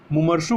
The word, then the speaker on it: मुमूर्षु: और जो मरने को इच्छुक उसे मुमर्षु कहते हैं। क्या कहते हैं, मुमर्षु। तो यह इसकी स्पेलिंग ध्यान रखिएगा कि जो मरने का इच्छुक हो उसे क्या कहते हैं, मुमर्षु कहते हैं, मुमूर्षु।